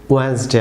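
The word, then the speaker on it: Wednesday: Viewers যেমন viewers এই বুধবার, বাংলা যে বুধবার, ইংরেজিতে ওয়েডনেসডে, আপনারা অনেকে এটিকে ওয়েডনেসডে প্রনাউন্স করে থাকেন, সম্পূর্ণ ভুল প্রনাউন্সিয়েশন ভিউয়ার্স।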